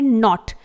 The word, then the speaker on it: knot: इसी तरह से अगला वर्ड है नॉट, KNOT। यहां पर हम नॉट को प्रोनाउंस कर रहे हैं लेकिन K को साइलेंट रखा गया है।